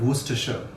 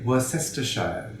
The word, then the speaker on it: Worcestershire: the unexpected pronunciation of worcestershire if we pronounced it as its spelt we would say were sister shire but that would be too easy anchovies are a type